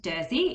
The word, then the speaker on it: Dersji: to be looking at dirzy bricken so i know there's a fair few people that absolutely adore dersi uh it is pronounced dirty even though it's spelt d-e-r-s-j so the j is silent um jersey is obviously